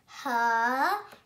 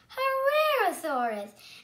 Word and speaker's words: Herrerasaurus: I'm going to tell you how to pronounce it. Herrerasaurus. Herrerasaurus.